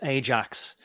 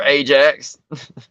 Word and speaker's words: Ajax: sure like you know I remember Ajax yeah uh or it's probably pronounced iax but it doesn't matter anyway